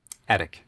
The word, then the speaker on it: etic: Is it edict or edict? Etic. It is edict? Okay. Well, maybe it could be pronounced edict, but it's spelt etic.